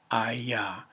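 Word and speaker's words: היה: It is pronounced HAYAH.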